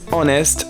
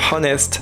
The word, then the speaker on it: honest: pour y réfléchir and the answer is honest sans le H et oui parce que ça m'est arrivé d'entendre honest alors qu'ici le H est mué et c'est pareil pour